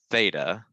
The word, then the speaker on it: theta: and so this is a greek letter so theta that's how you kind of draw it it's